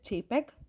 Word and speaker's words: JPEG: Next, it is pronounced as JPEG.